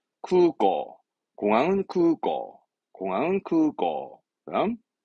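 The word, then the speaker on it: 空港: 발음은 쿠고.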